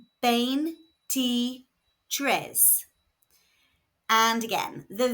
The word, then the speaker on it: veintitrés: are pronounced E and there is an accent on the last E. So the stress falls where the accent is on the last syllable.